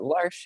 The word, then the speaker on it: L'Arche: probably wondering what is lars how do you pronounce it um well i'm here to help explain um so larsch is a community of people with and without